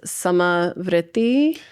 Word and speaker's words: samavritti: I often say the pranayyama practice samai. Um and so sama's you know like same or uh you put a little roll on it.